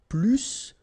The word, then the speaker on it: plus: And so the last structure, if you want to compare with a verb, then in that case, remember, plus will be with the S. So pronounce it plus que.